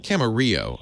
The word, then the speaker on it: Camarillo: Camarillo, I should say. Yeah. Camarillo, that's right, yeah. It gets mispronounced all the time.